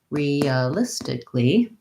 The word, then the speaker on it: realistically: look at the word realistically in this word we have realistically quite a few syllables and the syllable stress is on the third syllable stick so if i look